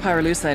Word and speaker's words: pyrolucite: You know what pyrolucite is, right? Yeah, neither did I. Pyrolucite, key syllable pyro, by the way, is